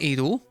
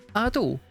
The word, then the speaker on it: Ado: I've learned it's not Ado. This entire time I've been pronouncing Ado, it's actually Ado.